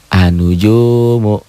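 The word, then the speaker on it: النجوم: Dibacanya menjadi anujumu.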